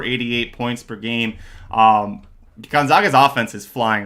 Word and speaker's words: Gonzaga: hot hand I think I always say it wrong and then I always think about John White it's actually Gonzaga and I think I